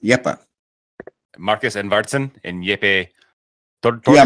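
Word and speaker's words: Jeppe: So it's pronounced Yepa.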